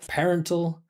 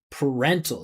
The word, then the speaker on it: parental: Well, I would say make it a reduction because it's unstressed. I wouldn't pronounce the vowel sound. I'd say parental.